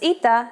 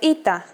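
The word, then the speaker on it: ήτα: complicated history of ITA at first it is generally believed to be pronounced like a long version of Epsilon and sounded like e after the Classical period however it sounds started to change and merged with Yota as did another letter trust me you don't want me to go on just learn them as e like all Greeks and you'll be perfectly fine so do you want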